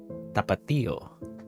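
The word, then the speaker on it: Tapatío: Tapato. The last word is uncle. I mean, Theo is uncle. Theo. Tapato. You could probably pronounce that tapato. There's normally an accent on the I you need to stress on that.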